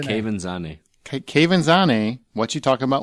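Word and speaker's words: Quvenzhané: Quavanzane? No. How do you say it? Kevin Zane.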